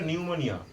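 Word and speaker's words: pneumonia: আই এ দেখে নিয়েছো নিউমোনিয়া পি এর উচ্চারণটা কিন্তু সাইলেন্ট থাকবে ঠিক আছে তুমি তো তোমার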